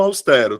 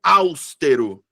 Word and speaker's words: austero: Voltando aqui pro austero, tá? Tem uma galera que pronuncia áustero. Áusttero. Eu fico hã, como assim? Então, sílaba tônica é a penúltima sílaba, então é paroxítona.